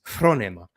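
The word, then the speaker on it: φρόνημα: Greek and all that, then say it properly. Say phronema, not phronema or not phronema or phronema. It's phronema. There's Greek. Do the right pronunciation if you're going to be so autistic about that.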